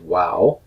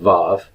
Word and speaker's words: vav: This vav, formerly pronounced wow, historically in Hebrew, I do believe that they pronounce it as a w sound. Most modern Hebrew pronunciation goes with vav, but I'll have reasons for why I think it originally was wow when we get to